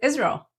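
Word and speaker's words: ישראל: sound this gives us Israel not Israel is Israel for Israel next is kosher the word referring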